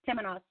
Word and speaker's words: Temenos: Temenos, yeah, it's a Greek word.